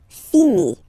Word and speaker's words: finit: Il, elle finit. So I-T, final T not pronounced.